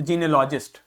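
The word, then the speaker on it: genealogist: इसका प्रोनाउंसिएशन देखिए, जीन ई अ ल लॉजिस्ट, तो जीनियोलॉजिस्ट।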